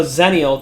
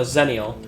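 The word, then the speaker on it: Xennial: I'm I'm I'm I'm I'm a zeniel technically it's spelled X you know x-e-n-n-i whatever is a zenial but like a year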